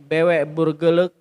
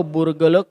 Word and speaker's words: Burgerlijk: Nah, kemudian di tanggal 6 Juli 1830 kodifikasi sudah selesai dibuat ya dengan dibuatnya BW Burgerlijk Wetboek. Nah, jadi kalau dalam bahasa Belanda ya LJK di ujungnya itu berarti dibacanya lek.